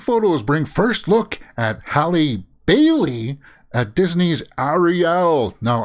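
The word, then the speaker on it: Halle Bailey: at disney's ariel now i had to closely make sure that i pronounced that as hallie bailey because i'm obviously familiar in with halle berry right everybody would say halle berry but hallie bailey uh i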